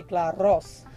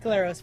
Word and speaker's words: Glaros: Well, if you're Greek, you say Glaros. But which I can't roll. I can't roll R's, so I'm glad you did that for me. Glaros works.